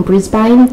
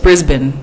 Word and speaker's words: Brisbane: I actually just came here from Brisbane. Jesus fucking Christ. It's Brisbane. Real Aussie would pronounce it Brisbane.